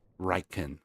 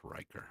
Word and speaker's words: Reichen: Reichen, not Riker.